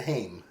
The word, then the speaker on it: Haim: So Haim, like a hymen. Yeah, exactly. That's how I say his name, Corey Hyman.